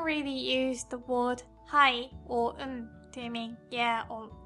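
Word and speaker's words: を: Our next character looks a bit like what would happen if chi and to had a baby. It makes the exact sound as o but when Japanese people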